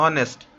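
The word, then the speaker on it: honest: एच से आपको लग रहा होगा, लेकिन साउंड प्रोनाउंस कहां से हो रहा है, ऑनेस्ट, ठीक है।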